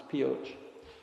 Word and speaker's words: Pioche: obtain a bit more expertise we went to Pioche Nevada and yes that's how you pronounce it it's Pioche and we went there to visit Lincoln power